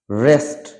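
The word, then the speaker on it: wrest: W, double U silent word. Double U silent word, এখানে দেখতে পাচ্ছি আমরা এই স্ক্রিনে প্রদর্শিত শব্দগুলোতে double you later will be silent.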